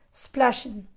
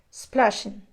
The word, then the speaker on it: splashing: Remember the verb pronunciation. There is no e, there's no s splashing, yeah? It's splashing, splashing.